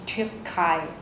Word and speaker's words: Türkei: Các bạn chú ý ở đây, chữ này là chữ U umlaut và chúng ta sẽ đọc là Ü, chứ không phải là U, không phải là Türkei mà là Türkei.